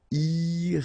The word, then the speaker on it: irrégulier: Okay, remember, IER at the end of your word here, it will be IE, okay? Irrégulier.